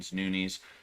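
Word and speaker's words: Nunes: then Amanda Nunis Noun Nunis. Her her the way the way you say her name is supposed to be like Nunis or some like that, you know?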